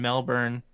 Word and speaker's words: Melbourne: So Oceania, they're the international competition in Melbourne, I believe is how the locals say it.